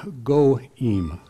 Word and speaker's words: goyim: The word nation in the Bible is goim. I have to spell it G-O/I-M to be able to pronounce it closely.